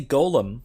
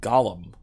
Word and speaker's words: golem: I say Golem, typically, but it's clearly pronounced Gollum in Dragon Age.